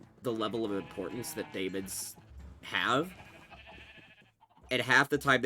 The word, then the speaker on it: daemons: Okay, I know they pronounce it demons. I know it's technically pronounced demons.